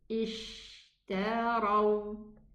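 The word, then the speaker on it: اشتروا: Because this word starts with Hamzatul Wasli, then I will start it with Hamzat Qata Maksura. I'm gonna say Ishtaraw, Ishtaraw, okay?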